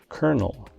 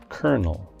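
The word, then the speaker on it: colonel: at number eight is a noun that looks like it would have three syllables but actually has two it refers to a rank in the military it's pronounced kernel kernel for example the rank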